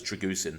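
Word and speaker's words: Drăgușin: That's because everyone on podcasts was saying it wrong. Now we know it's pronounced as Dragusin.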